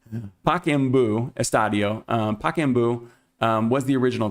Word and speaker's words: Pacaembu: I asked my Brazilian wife, and she said that she would pronounce it give me a second. Pacaembu, Estadio.